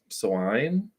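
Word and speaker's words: soigné: uh the next word I believe is also French s-o-i-g-n-e swine um it says possessing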